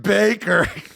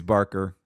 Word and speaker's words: Barker: lawren ladies and gentlemen my name is Baker again it's I said it wrong it's Barker Barker well they said that